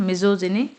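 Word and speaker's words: misogyny: मेजोजेनी यहां पर देखिए जा साउंड है मेजोजेनी मेजोजेनिस्ट मेजोजेस सॉरी मेजोजेनिस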